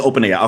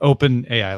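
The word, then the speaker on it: OpenAI: Is it Open AI or Open? How do I pronounce AI. it? It's just Open AI. Okay. Yeah, like a compound, like Open AI, like 2 words.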